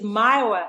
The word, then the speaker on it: Myoa: nothing against you but it's Myoa. I guess it's Myoa, like Iowa, from my original name, Myowa. So it's spelled different, so it's kind of difficult sometimes for people to so it's pronounce it. So it's Myowa.